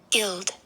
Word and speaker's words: guild: it is there, and it is a short I. He's a trapped I, so he can't sing unless he was to follow the I rule, which is two consonants. Then he could say his name, but he can't.